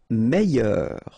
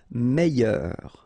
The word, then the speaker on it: meilleur: Meilleur. Okay, same thing here. I-double-L-Y. Meilleur.